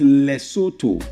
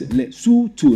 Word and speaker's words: Lesotho: It is pronounced, you see, the last O is actually pronounced like oo. Like when you want to pronounce zoo, ooh.